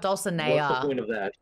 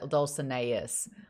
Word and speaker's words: Dulcinea: it's like really okay oh dulcinea not dulcineas honestly there's been i